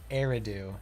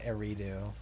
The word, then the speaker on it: Eridu: good citizen medle mhm apparently it's pronounced eridu not arido do bangoo get fired